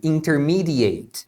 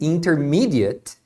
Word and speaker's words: intermediate: outro é bem simples se for um verbo você vai pronunciar Eight então o verbo intermediar você pronuncia to intermediate agora se não for verbo for um adjetivo um substantivo aí você pronuncia at por isso que intermediate